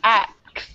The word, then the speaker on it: axe: Make sure when you pronounce the word axe, you really get the K. Otherwise, it sounds like you're swearing. So, axe.